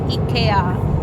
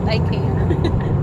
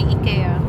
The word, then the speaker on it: IKEA: Yes, it is pronounced as IKEA, not IKEA. But up to you what you prefer. But we say IKEA.